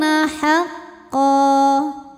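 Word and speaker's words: حقا: Humul kafiruna haqqa. Ketika berhenti di qa, maka di sini ada hukum mad yang dinamakan dengan mad iwad. Sebab ada baris tanwin fathah yang kita berhentikan. Cara membacanya, qaf dipanjangkan 2 harokat.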